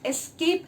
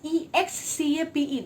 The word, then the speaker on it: escape: And next we move on to another two very special and easy words, that is escape and especially.